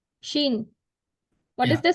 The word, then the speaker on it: Chine: Shin. Sheen. What is Yeah. the spelling? Chine. Yes, Sheen. Okay. But suppose a student is getting a difficult time to capture the pronunciation of China in French language.